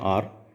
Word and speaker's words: hour: हम कहेंगे 1 घंटा, तो घंटा जो है उसको हम इंग्लिश में कहते हैं आर। तो उसकी जो स्पेलिंग होती है वो होती है HOUR। अगर हम स्पेलिंग पर ध्यान देंगे तो ये जो H है यह कॉन्सोनेंट होता है।